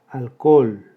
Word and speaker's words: alcohol: Alcohol, 3 sílabas. Hiato entre dos vocales iguales, la O también. La sílaba tónica es la última, aguda que no termina en N, en ese ni vocal, sin tilde.